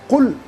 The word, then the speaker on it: قل: نے ایک لفظ صحیح، جیسے ایک قل قرآن کا لفظ ہے، قل موٹی قاف جس کو ہم کہتے ہیں اردو میں 2 نقطے والی، اس سے ادا کرتے